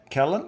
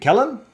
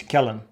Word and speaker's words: Kellen: people so thanks uh colleen for organizing it callen is it kellen that's correct yes there you go i need to be more inclusive and learn how to pronounce names so it's kellen well i i made